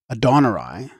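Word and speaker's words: Adonai: 52 the Hindu goddess adaner or as it might be properly written adonay since the second a is pronounced almost like the English o is represented as surrounded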